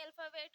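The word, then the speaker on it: الف: ये अल्फ़ाबेट का पहला वर्ड है, इसे कहते हैं अलिफ। अलिफ को जो आवाज होती है वो इससे प्रोनाउंस करने के लिए हम आ।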